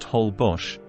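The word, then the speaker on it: Holbox: these glowing microorganisms is on moonless nights hbars pronounced hbos is a laid-back dream of an island off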